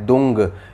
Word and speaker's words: दूं: इसमें जो दुंग का उच्चारण किया गया है वो दुम नहीं है, ये है दुंग, यानी कि अंगा, अंगा का साउंड आपको बोलना है।